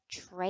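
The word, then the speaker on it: Treays: get the right book her name is Rebecca tra and it's spelled a little differently than we usually see TR e a y s so you'll want to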